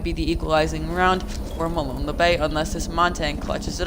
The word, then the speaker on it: Molon Labe: Equalizing round coming out from Molon Labe on the defense. And anyone who are wondering, that is the correct way to pronounce it.